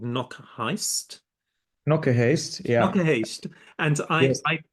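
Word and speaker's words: Knokke-Heist: realize that the gallery is in a place now you must pronounce this for me. It's in a place called Knokke Knock a haste.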